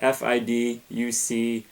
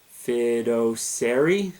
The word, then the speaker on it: fiduciary: to say this word f-i-d-u-c-i-a-r-y fido-sari it's pronounced fiduciary i don't know uh